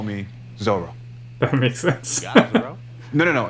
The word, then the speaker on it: Zorro: Zorro? No. It's pronounced Zorro.